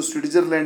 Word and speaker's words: स्विट्जरलैंड: ठीक है, देखिए स्विट्जरलैंड में टी जो आता है उसको यहाँ पे साइलेंट माना जाता है, इसलिए इसको स्विट्जरलैंड नहीं स्विट्जरलैंड पढ़ते हैं।